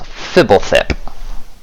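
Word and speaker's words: Fblthp: And Fibblethip is spelled PHBLTHP. There's no vowels. Fibblethip.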